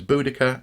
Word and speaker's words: Boudica: you want to but the cut is important so I think it's Boudicca and the I kini or the I Kenny now mmm things did